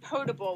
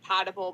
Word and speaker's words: potable: Some of that actually is potable, which is drinking water. It looks like potable, but it's pronounced potable.